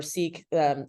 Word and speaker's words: Sikh: That's like, if I'm Punjabi, which it's funny because we're Sikh, or Sikh, is how some pronounce it, and it's not supposed to be